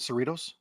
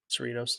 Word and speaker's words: Cerritos: gonna have to help me out with the pronunciation rich uh for the goal scorer yes oh Ronald Cerritos Cerritos there you go okay I get in three